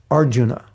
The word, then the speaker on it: Arjuna: It's not Arjuna, it's Arjuna.